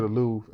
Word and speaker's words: Louvre: The Louvre.